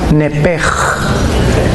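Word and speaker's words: נפש: así como suena nepesh, en el hebreo se pronuncia ch como j, nepej.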